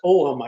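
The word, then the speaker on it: Ogham: the second would be the ogum or it's pronounced omam I guess correctly Celtic om you know and I always called it ogum but that and it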